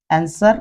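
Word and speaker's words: answer: आंसर में भी आंसर पढ़ा जाता है इसे।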